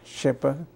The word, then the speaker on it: Schipper: English can you please state your name and spell it for us my name is shipper s c h i p p e r and what was your name at Birth the